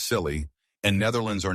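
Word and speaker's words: Scilly: The isisle of silly, pronounced silly, and Netherlands are not sure if they have been at war for 300 years.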